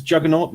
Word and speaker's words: Juganawt: okay well on youtube it's juggernaut it's spelled badly so it fits in eight letters that's a-n-a-w-t it's the same over